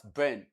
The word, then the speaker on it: burn: The sound is pronounced, the word is pronounced as burn. And it is the long that we have there. The one you have in bird. So it is the one you have in burn too.